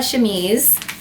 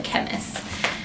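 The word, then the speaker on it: chemise: about that for a shames which I'm not going to lie I know I'm saying it correctly now but when I originally started looking it up I thought it was called a chemist I'm going to be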